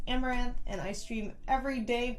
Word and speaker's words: Amouranth: hey guys I'm Caitlyn My Stream name is pronounced amaranth and I stream every